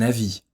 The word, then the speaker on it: avis: l'arrêt 1 un avis ici on cherche à faire la distinction entre la consonne v comme dans avis vous ville et la consonne b comme dans abbey bateau bien comme leçon veine